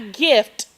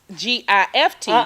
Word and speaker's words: GIF: And not a gift, G-I-F-T, but G-I-F. Just GIF. by itself. Yes. GIF. That's how you pronounce that.